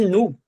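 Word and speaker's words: nous: Por exemplo, aqui no il com s, no l com s e no nu que eu pronunciei, eu não tô pronunciando esse S, né?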